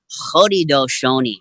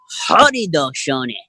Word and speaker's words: Haudenosaunee: East Coast here, the Haudenosaunee people, and we pronounce it. If you can say this with me out there in the internet world, Haudenosaunee, right? Haudenosaunee. You say that? Haudenosaunee.